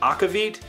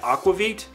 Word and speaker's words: aquavit: It is, so the pronunciation is, I had originally been hearing everybody pronounce it aquavit, but I later heard people pronouncing it aquavit. So it is probably one of those two, or possibly a third pronunciation that I'm totally getting wrong.